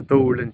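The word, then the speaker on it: duirling: Duran. This is the dulan d u i r l i n g mappa. How do you spell it?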